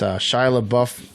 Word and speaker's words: Shia LaBeouf: It's called The Peanut Butter Falcon, and it's Shia LaBeouf.